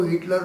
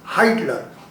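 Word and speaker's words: Heitler: मैं हिटलर को हिटलर नहीं कहता हूं, मैं उसको प्रोनाउंस करता हूं हाइटलर।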